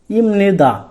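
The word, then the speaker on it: 입니다: উচ্চারণটি করতে হবে যে বিউব বাসমের পরে নিয়ন থাকলে বিয়োগটি আমাদের পণ হয়ে ম উচ্চারণ হবে সেক্ষেত্রে আমাদের এখানে কি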